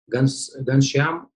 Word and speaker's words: Ghanshyam: pronounced the name incorrectly, Ghanshyam. Ghanshyam, you ready? No problem, Daniel, I'm ready. This is Ghanshyam, you pronounce it correctly.